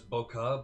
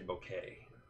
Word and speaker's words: bokeh: bokeh in the background a lot of people think that's boca but it's actually bouquet because it's spelled b-o rhymes with okay rhymes with okay all